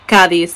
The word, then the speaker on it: Cádiz: on the second syllable kadis the emphasis is on the first and if you're a Spaniard the setas will be thetas so e um K